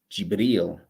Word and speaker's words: Jibril: that there's a demonstration we say in english gabriel but in arabic it's pronounced jibril it ends with the